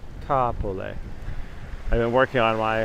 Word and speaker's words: Kapolei: just west of kapolei not kapolei it's ka like uh like ah aspire kapolei i've been working on